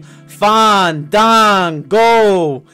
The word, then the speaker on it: Fandango: and Unforgettable in 2013 fan Dango danced his way into WWE complete with ballroom dancing attire and a pension for correcting everyone on the pronunciation of his name fond dang go with his dance partner